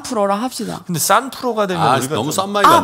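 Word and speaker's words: 三: 얘기를 하는 거예요 그 중국말로 3 포도를 발음 어떻게 합니까 3% 숫자 3 의 숫자 3은 싼 이라고 밥 싸 쌀 1톤 똑같네 싼 풀어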